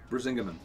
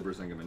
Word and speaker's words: Brisingamen: Nordic Relic Busingamen? Brisingamen. Yeah. Do you really know how to say it? Actually, Brisingamen.